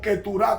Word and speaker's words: Keturá: Y cuando muere su esposa, él se casa con Setura o Keturá, como se pronuncia en el hebreo, y tuvo 6 hijos.